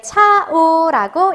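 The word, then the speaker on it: chao: 네, 차오라고 읽어주면 되는 거죠.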